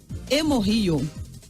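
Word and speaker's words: HemoRio: Se fala hemorrio. Hemorrio é isso? Hemorrio? Se escreve hemório.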